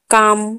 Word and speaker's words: calm: Stock, walk, चौक, York, Fock, यहाँ पर के आगे एल है तो एल वहां पर सब में साइलेंट होगा। अभी एन का, काम, CALM, काम, M के आगे L है तो L साइलेंट होगा।